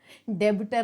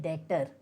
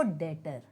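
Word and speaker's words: debtor: डेबिटर नहीं, इसका जो बी है वो साइलेंट है, तो हम इसे कहते हैं डेटर।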